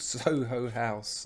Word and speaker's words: Soho House: is probably not helping it's called Soho House not south you can choose to